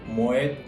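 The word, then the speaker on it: Moët: 그래서 모에 샹동이라고 발음하시는데 모엣이라는 것은 프랑스어가 아니고 이 모엣 에 샹동 샴페인 하우스의 창립자 네덜란드인의 성입니다. 패밀리 네임이에요. 그래서 이거는 불어가 아니기 때문에 뒤에 모엣 하고 끝까지 발음을 다 해주셔야 돼요.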